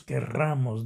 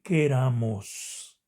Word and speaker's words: queramos: Y muchas veces decimos querramos, aunque nosotros querramos, decimos nosotros, pero ese es un error también de adicción y se debe decir queramos.